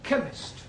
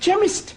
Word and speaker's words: chemist: honey yes please spell chemist Oh blimey okay does not begin with a cake it sounds like it begins with k ch but that is making it chemist oh the CH is